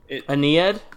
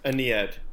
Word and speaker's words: Aeneid: Aeneid. Aeneid. Yeah. That sounds right. And pronunciation-wise and content-wise.